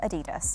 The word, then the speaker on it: Adidas: She is a yoga and Pilates teacher and a brand ambassador for Adidas. Yes, that is how it's pronounced.